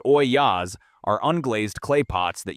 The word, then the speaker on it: ollas: Ollas, spelled O-L-L-A-S, pronounced Oyas, are unglazed clay pots that you bury in the garden up to the neck and fill with water.